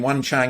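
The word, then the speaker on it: Jung Chang: i kind of know he pronounced her name wan chang you know the author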